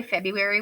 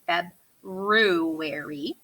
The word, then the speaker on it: February: so feb make sure it has capital letters feb rue erie so when we say february we don't really hear that r in there but it's when you spell it think february what about march was